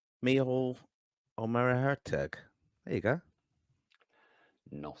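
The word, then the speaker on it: Micheál Ó Muircheartaigh: Michael Omerhertug.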